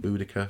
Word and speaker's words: Boudicca: being said with a hard K though the the Romans heard them with a hard case they doubled the see in the in Boudicca for example and that's how you should probably try to pronounce it in the future now at this point